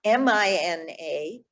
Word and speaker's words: Mina: But Tuma, Mina, M-I-N-A, Mina. Great. So it goes Tuma Mina, Tuma Mina. We'll get to the rhythm in a minute. Tuma Mina, and the last word.